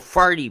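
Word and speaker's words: Fatih: I've stayed in a place called Farty before. It's part of Istanbul. No, it doesn't even have an R. It's how they pronounce it. Just because they call it Farty.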